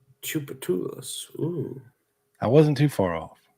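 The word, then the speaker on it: Tchoupitoulas: Yes, and thank you, No True Flags, for your excellent pronunciation for Joe. There it is, Joe. Do you see that? Chupatulas. Chupatulas.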